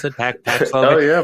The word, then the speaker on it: Paxlovid: Is that how you pronounce it? Paxlovid. Oh yeah, Paxlovid yeah.